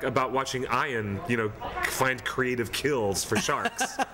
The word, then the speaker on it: Ian: I thought it was just like about watching Ian, find creative kills for sharks.